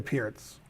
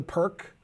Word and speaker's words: Pirc: all of you um most americans who are lower rated call it the perk um i mispronounce a lot of names from players who aren't american so when they say perk i know what they're talking about um but i think pierce is considered the most uh normal way of pronunciation and you can see